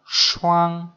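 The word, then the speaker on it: 双: Và phát âm là shuang shuang shuang uang uang sư quang xoang xoang.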